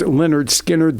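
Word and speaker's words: Lynyrd Skynyrd: skinnard classic southern rockers pronounced Leonard skinnard their first one which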